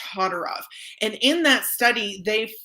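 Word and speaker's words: Todorov: psychologist janine willis and alexander todderoff i believe it's pronounced todderov and in that study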